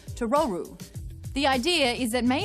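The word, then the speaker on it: トロル: english speakers out there the name totoro is an intentional mispronunciation of the japanese word for troll to roru the idea is that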